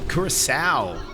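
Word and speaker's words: Curaçao: The second C is pronounced as an S, and it's a small country that was a Dutch colony at some point. Curacao.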